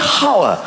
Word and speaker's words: hour: Why is there an H? The silent H. Nobody has ever said, I'll see you in an hour.